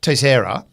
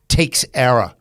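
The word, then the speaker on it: Teixeira: the whole thing with tesera and by the way that's a Portuguese name I looked it up and that is how you pronounce it people have been calling him takera T but it's t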